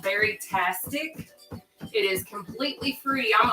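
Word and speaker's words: Baritastic: and that's okay so very tastic is what it's called it's like berryatric but ber tastic so b a r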